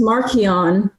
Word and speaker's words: Marchion: 30-minute rabbit hole and finally found charles soul himself says it's marchionne oh they must pronounce